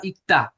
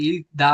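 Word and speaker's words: 읽다: এটা কি, এটা আবার ইকতা, এটা ইকতা হইতাছে, তাহলে রিউল কই গেল? হর তো কত হচ্ছে ইলতা, ইল, তারপরে হচ্ছে আবার ক, তারপরে হচ্ছে আবার দ, যেটা থাকে ইল দা হওয়ার কথা, কিন্তু আবার বলতেছে কি ইকতা। এই রিউলের উচ্চারণ সাইলেন্ট।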